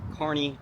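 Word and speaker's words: Kearney: with the K but it's pronounced Carney like the circus cares okay um so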